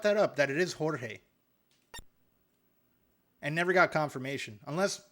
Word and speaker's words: Jorge: You Okay, let me see what is. I think he called me a Hold on. No, it's uh Jorge. You have been pronouncing it my name wrong and just photonically.